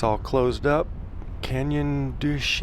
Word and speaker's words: Canyon de Chelly: Canyon Douche. It's kind of a weird way. It doesn't sound like it's spelled, but anyways, if you